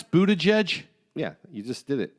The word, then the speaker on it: Buttigieg: How do you pronounce Buttigieg?